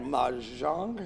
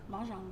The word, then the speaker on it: mahjong: You know, like this past weekend we had mahjong. Is that how you say it? Mahjong.